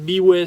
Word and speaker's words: B.way: Donc quand l'entreprise Biway, ça s'écrit comme ça, B.way, m'a contacté, j'ai dit mais qui sont ces gens-là quoi?